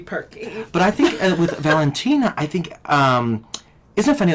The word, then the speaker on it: Valentina: But you have to say it like that. Valentina.